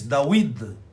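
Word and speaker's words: דוד: Davi, que em hebraico se escreve e se diz Dawid, são 3 letras.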